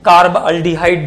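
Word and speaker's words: carbaldehyde: Carbon है CHO का, उसका प्रोनाउंसिएशन हमें कार्बल्डिहाइड जैसा करना है। इट is pronounced as कार्बल्डिहाइड।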